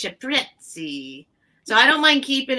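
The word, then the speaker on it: cipressi: The ciprezzi is how you say it in Italiano. It's ciprezzi.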